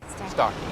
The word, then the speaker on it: Starkey: Starkey, yeah.